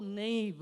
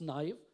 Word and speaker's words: naive: know this is how Nave out naive I was I mean I pronounce it as name but I think it's naive right Monica knife or English